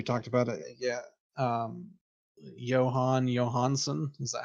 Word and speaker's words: Jóhann Jóhannsson: Um Jóhann Jóhannsson, is that how you say his name?